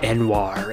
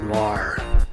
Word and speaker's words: Noir: pronounced my name Enoir instead of Noir.